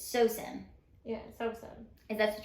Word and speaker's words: Sawsan: So the correct pronunciation is Sawsan. Sawsan. Yeah. Oh my gosh. So it's Sawsan.